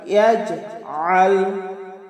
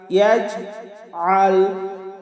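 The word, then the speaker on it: يجعل: আইন হলকের মধ্যখান থেকে একটু চাপ দিয়ে আমরা উচ্চারণ করব।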